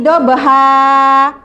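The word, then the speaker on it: ضبحا: Dalam surat Al-Adiyat ayat 1 sampai 5, seperti yang dibaca adik yang pertama tadi ya, dia membacanya wal adiyati dobahan.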